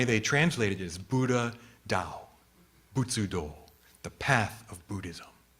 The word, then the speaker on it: Tao: looks like Tau right they write a tao but that's pronounced Dao and that is literally